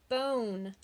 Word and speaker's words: bone: one but own and there's that silent e at the end again making the O say its name oh oh so that's